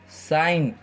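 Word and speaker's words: sign: जाएगा साइलेंट हो जाएगा जैसे इसको क्या बोलेंगे रैन इसको साइन इसको डिजाइन इसको रिजाइन ठीक है जी हमेशा क्या होगा यहां पर साइलेंट होगा ओके खा ए हार्ट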